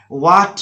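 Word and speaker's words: what: तो जैसे देखो वाट में W के बाद H आ रहा है तो H साइलेंट, व्हेन में भी H साइलेंट, वेयर में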